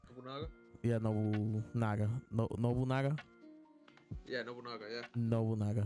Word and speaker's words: Nobunaga: How you pronounce his name? Nobunaga? Yeah, Nobunaga.